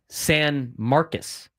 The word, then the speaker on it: San Marcos: It's spelled like San Marcos, but they say San Marcus cuz Texas is wrong.